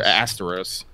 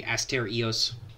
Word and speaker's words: Asterios: Is there Asteros? No, as far as I know, in Greek you put emphasis on every syllable, so it would be Asterios. Asterios.